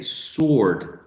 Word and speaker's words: sword: in the second case we say sword sword sword we don't produce this wood right sword and in the